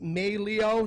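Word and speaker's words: Meglio: great that are donating I know items it's pronounced Meili Oh knives it's felt m EG l io knives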